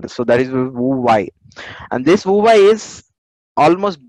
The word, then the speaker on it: Huawei: Okay, H is silent here. So that is VUVA.